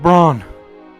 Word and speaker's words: Braun: Brown! Mr. Braun! Run downstairs. Yeah, I realize I've also been saying his name wrong too.